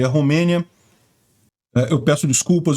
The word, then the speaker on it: Romênia: Eu peço desculpas, eu tenho a mania de ler os nomes em inglês e pronunciar eles como está em inglês, que é Moldova e România, mas não, em português é Moldávia e Romênia.